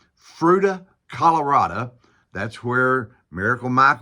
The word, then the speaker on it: Fruita: city of Fruita and I checked that's how you pronounce it Fruita Colorado that's where Miracle